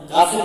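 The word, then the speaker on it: قاف: হবে তো আবার বলেন কফ কফ কি হলো কফ কফের উচ্চারণটা একটু কি হবেন কাফের মত না হয় একটু মোটা করে কফ কফ সিন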